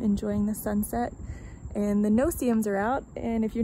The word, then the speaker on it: no-see-um: So if you're not from Florida and you are not aware of what a no-see-um is, it's no-see-um. That's how it's spelled.